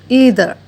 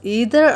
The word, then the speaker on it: either: First one, either. It can be pronounced both as either or either, so you can pronounce it in whichever way that you are comfortable with.